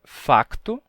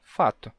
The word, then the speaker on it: facto: Mas os portugueses dizem facto e os brasileiros dizem fato.